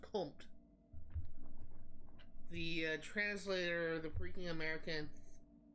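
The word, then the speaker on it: comte: bit dirty or provocative but it's pronounced comp the translator the fre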